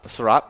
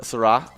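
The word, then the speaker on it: Seurat: it's george's uh sarah sarah syrap uh no no you don't put t on it syrah it's fresh it's french okay uh post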